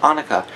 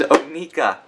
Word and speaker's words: Onika: and now we have anuka or NAA I'm sorry I said it wrong oh my dear God I knew it was going to happen I am so sorry it is Ona so on the front